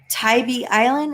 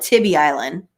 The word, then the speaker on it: Tybee Island: to go back to tybee island is that how you say it i've been calling it tibby island i've been corrected so many times but um tybee island